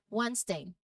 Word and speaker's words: Wednesday: So for the letter D, the key is to recognize these specific common words and the DG and ND combinations. So while D is usually pronounced in these particular cases, it remains silent. Knowing these exceptions will help your pronunciation sound more natural.